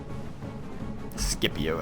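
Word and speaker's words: Scipio: here Cavalry another npio skipio I guess I should say I don't like that hard C for some reason I'm just so used to saying it a different way even though it's probably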